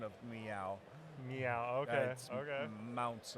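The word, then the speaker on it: Maunz: meow meow okay okay mounts I believe is how it's pronounced m-a-u-n-z mountains I love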